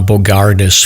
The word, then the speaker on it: Bogardus: stomp uh welcome we're here with Josh uh Bogardus from uh from Warden is that is that the right pronunciation your last name Josh it is yeah